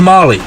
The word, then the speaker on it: Malay: My favorite dance partner was Malay, pronounced Molly, a short industrial engineer from Dominican Republic.